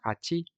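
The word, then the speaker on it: はち: But here, as we said, number 8 is pronounced hachi, begins with the sound of the katakana ha.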